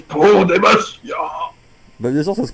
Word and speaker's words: Demacia: pour moi, Demacia, ça se prononce pas comme ça se prononce Pro Demacia.